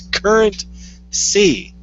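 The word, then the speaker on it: CurrentC: currency and it's pronounced currency doesn't rhyme it's pronounced it's current C that's the whole C curreny pissed me off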